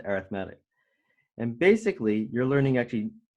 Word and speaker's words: arithmetic: thing called an arithmetic sequence that's how you pronounce it arithmetic and it looks like your arithmetic but it's pronounced arithmetic and basically you're learning actually two equations the